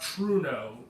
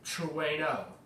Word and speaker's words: Trueno: Not Truno, Trueno. It's a Japanese name, you're supposed to pronounce it as such.